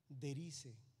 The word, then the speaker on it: Derice: Mi esposa se pronuncia Hendrika. Hendrika. It's H-E-N-D-R-I-K-A. Hendrika. Cristóbal. Cristóbal. Derice.